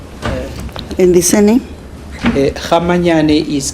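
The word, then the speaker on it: Kgamanyane: Kamayan is K G A M A N Y A N E. Did I pronounce it correctly?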